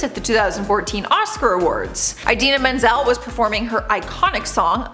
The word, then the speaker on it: Idina Menzel: explanation he had but he mispronounced her name and said something completely different he announced her as adele dazeem her name is idina menzel he did apologize to